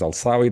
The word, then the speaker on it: Elsawy: My name is Elsawy. That's how it's pronounced.